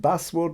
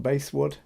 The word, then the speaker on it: basswood: This is made of basswood, and I believe it is pronounced basswood, not basswood.